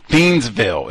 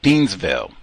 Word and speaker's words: Thiensville: They got all that Waukesha and all them wacky pronunciations. Woo! Thiensville. Is that it? Thiensville.